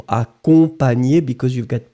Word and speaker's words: accompagné: Phonetically, you wrote it extremely good, Ice Cubes, but remember this nye nye sound in French, in most of the cases, it will be GN. Nye nye nye. Remember. Accompagné.